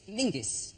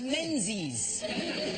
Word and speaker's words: Menzies: His name is Mingus. Mingus, yes. Goss. Yeah. Yeah, but it's pronounced, it's spelled M-E-N-Z-I-S.